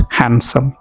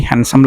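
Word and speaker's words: handsome: When a pony is young he looks हैंडसम। कि अगर एक खच्चर, गधे जैसा एनिमल होता है, अगर वो भी यंग हो तो वो भी हैंडसम लगता है। हैंडसम नहीं बोलना है, डी साइलेंट है यहाँ पर।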